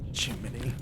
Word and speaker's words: Gemini: Jiminy is spelled Gemini. Oh, Jiminy.